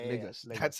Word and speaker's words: Lagos: But yeah, Lagos. That's that's how you pronounce it.